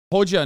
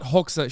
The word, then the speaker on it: Hoxha: Hoja, not Hoxha.